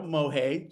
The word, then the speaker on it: Mohay: so my name is mohay just the way it's spelled is the way it sounds so that'll be a